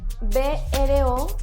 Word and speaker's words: brocha: Se escribe B-R-O-C-H-A y el sonido cha es fuerte, brocha.